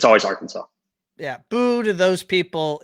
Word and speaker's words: Arkansas: from little rock okay and does anyone actually pronounce it are kansas or is it always arkansas it's always arkansas okay all right i mean